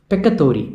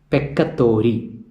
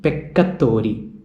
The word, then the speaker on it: peccatori: Peccatori means sinners. Peccatori. Please note the pronunciation peccatori. There are doubling of C. So that is not peccatori, that is peccatori.